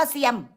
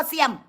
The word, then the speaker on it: สยาม: เซย ไม่ ใช่ ได้ อ่าน ว่า เซียม ใคร ก็ ตาม ที่ อ่าน ชื่อ บ้าน กู ว่า เสี่ยม มึง เนี่ย ริน ไกซัน มึง จะ อ่าน มึง จะ อ่าน สยาม ว่า เสียม ไม่ ได้ และ มึง จะ